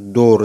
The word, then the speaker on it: door: ডোর, দেখো ডোর, DOOR, তাহলে এই ডবল ও দুটি ভাওয়েল পাশাপাশি বসে ও উচ্চারণ হলো ডোর, ডৌকার র, তাহলে এই দুটি ভাওয়েল পাশাপাশি বসে ও হলো, হ্যাঁ।